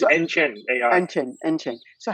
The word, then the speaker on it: AnChain: How do I pronounce AnChain, yeah, so AnChain, AnChain.ai.